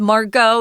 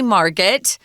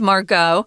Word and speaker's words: Margot: they've got interesting names Margot is a French name that's why you don't hear the T don't say Margaret no it's Margot and then Kitty is